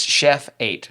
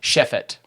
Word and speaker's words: Chefate: that it was made up so yeah it's Chef eight but it's shiff it correct yes I'm gonna try and pronounce it correctly okay all right Chef it yes all right cool okay so yeah where'd